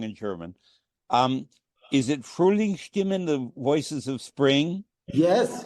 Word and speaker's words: Frühlingsstimmen: Is it Frühlingsstimmen, the voices of spring? Yes, Frühlingsstimmen.